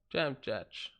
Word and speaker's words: Dziamdziak: Jam judge. Dziamdziak.